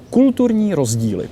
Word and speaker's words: kulturní rozdíl: Kulturní rozdíly. Oh my God, I Kulturní could never rozdíly, pronounce that cultural word in a differences.